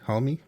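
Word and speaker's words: Hulme: parker homemade murder case that's how you pronounce that one last name h-u-l-m-e homie and i've got a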